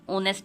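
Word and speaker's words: honest: सी is dash ओनेस्ट lady, होनेस्ट को हम इसमें एच साइलेंट होता है आपको पता भी होगा तो ओ आएगा, ओनेस्ट ओ आएगा तो सी इज एन ओनेस्ट लेडी।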